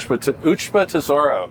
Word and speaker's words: Ushba Tesoro: I also think that Ushaba Tesoro, how do you pronounce that? Ushba Tesoro. Ushba Tesoro might have a chance, as well as Derma Sogadaki.